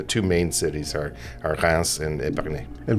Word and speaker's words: Reims: It's that It's that R way back in there.